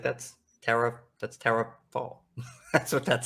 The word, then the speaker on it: Faul: Yes, not foul, Faul.